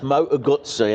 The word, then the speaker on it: Moto Guzzi: and that's motor gutsy as I've been motor guts yeah as I've been there told to pronounce it many times now by viewers um